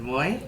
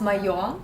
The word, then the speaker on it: Moi: Moi? Moi? The right pronunciation is Mayo. Mayo? Which means mine in Russian.